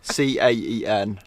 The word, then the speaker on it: Caen: C-A-E-N. I can't wait to figure out how that's actually pronounced.